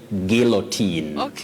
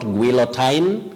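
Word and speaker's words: guillotine: word letter U is not pronounced just like in the word guilt but you say guillotin guillotin to be sent to the guillotin not guillotin not guilotine okay guillotin okay Willis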